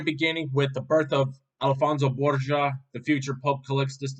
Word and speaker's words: Alfonso: Yeah, it's literally Alfonso, Alfonso, Alfonso, not Alonso, even though the book says Alonso.